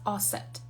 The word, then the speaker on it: Aset: isis is goddess assad her name is goddess asset but many people pronounce it isis you are a magician